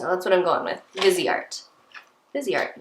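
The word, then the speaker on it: Viseart: right now okay so Sephora says on their little YouTube video here that it's vzy art so that's what I'm going with vzy art vzy art not Vice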